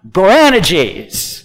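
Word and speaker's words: Boanerges: g say to it you got to put the emphasis on the right syllable here branna geez there you go Glen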